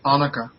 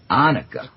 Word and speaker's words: Anuka: we're dealing no that's accent is accent is on the o it's anuka anuka okay that's his that